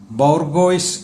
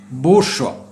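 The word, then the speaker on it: bourgeois: നിങ്ങളിൽ പലരും ഇത് വായിച്ചത് ബോർഗോയ്സ് എന്നായിരിക്കും. ബോർഗോയ്സ്. എന്നാൽ ശ്രദ്ധിച്ചോളൂ, ഇത് ബോർഗോയ്സ് അല്ല, ബൂർഷ്വ എന്നാണ് വായിക്കേണ്ടത്. ഇതിൻ്റെ ഉച്ചാരണം ബൂർഷ്വ.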